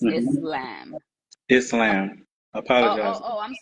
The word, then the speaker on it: Islam: on the pronunciation of Islam there is an S there really it's a scene because it is an Arabic word but um a lot of times we say Islam because that is our